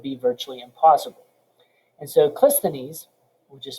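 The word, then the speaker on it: Cleisthenes: became tyrannical would be virtually impossible and so clistonese which is spelled c-l-e-i-s-t-h-e-n-e-s took power he was member of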